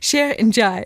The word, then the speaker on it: Cheikh Ndiaye: Well, Cheikh isn't spelled like I would spell Cheikh. Cheikh Ndiaye.